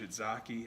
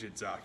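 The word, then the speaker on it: tzatziki: But I think it's Shidzaki because I want to sound all cool and cultured like I know how to pronounce the word.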